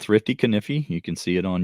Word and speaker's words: Kaniffy: we leave so the channel is called Thrifty kify you can see it on YouTube the same name it's uh not Thrifty kiy which I hear a lot of people mispronounce yeah it's kify two FS and um we also have a